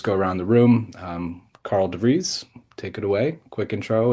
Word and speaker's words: Karl de Vries: Um, Carl Dere, take it away.